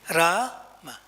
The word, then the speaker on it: Rama: my lip movement see ra ma i can hear them because the ma is soft and it's a short a so don't find fault